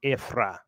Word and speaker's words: Ephraim: Now, according to Strong's, the name for Ephraim is Ephraim, but it's pronounced Ephrah.